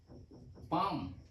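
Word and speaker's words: palm: consonant नहीं लिखा है इंगलिश स्पेलिंग में हम पी एलम लिखते हैं लेकिन इसकी प्रशन है इसका उच्चारण है पाम तो एल की कोई साउंड नहीं आती है इसलिए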